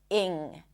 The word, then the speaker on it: -ing: Now, finally, let's talk about the ing suffix, ing. Technically, it's a lax E sound and then an NG, ing. Doesn't have a G sound at the end.